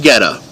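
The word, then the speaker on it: goetta: Look up Geta, but it's spelled weird. Just G-O-E-T-T-A. G-O-E-T-T-A. It's German.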